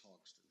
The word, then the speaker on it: Hogston: So, if I would, Hogston, pronounce it for me. I've been called a lot worse. It's Hogston.